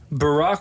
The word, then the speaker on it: Barack: Barack rhymes with macaque.